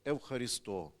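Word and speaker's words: ευχαριστώ: Якщо ви були в Греції, то в магазинах всі, коли ви купили щось, вам скажуть продавці евхарісто. Наголос так: "Евхаристо, дякую"- каже, як у нас.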